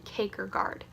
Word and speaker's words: Kierkegaard: assigned Soren Kierkegaard Soren caker guard is Danish so it's kind of tricky to pronounce its Soren cake or guard yeah that took me